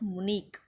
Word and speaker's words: Munich: room in one of the poorest quarters of Munich. Now, see, student, this H is silent here.